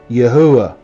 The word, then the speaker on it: Yahuwah: This should be a U, not a V. Yahuwah.